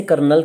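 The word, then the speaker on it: colonel: ये कर्नल आता है, लिखने में ये कॉलनल वर्ड है, पर हम बोलते से कर्नल के तौर पर ये र शब्द की आवाज बीच में जरूर आएगी जब हमने इसे इंग्लिश में प्रोनाउंसिएट करना है।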